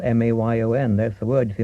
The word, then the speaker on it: Mayon: Dien And you find Table Mayon down near Land's End. It's spelled M-A-Y-O-N.